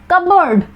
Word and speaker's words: cupboard: Next कबर्ड, pronunciation है कबर्ड बट लिखते क्या है, एक्चुअल स्पेलिंग है CUPBOARD, यहाँ पर P लेटर साइलेंट है।